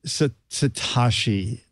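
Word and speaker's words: Satechi: it's hitachi it's s-a-t-e-c-h-i did they tell you how to pronounce this the pr lady said satoshi i said like it's an e because it kind of fits what they do which is techie envelope huh envelope oh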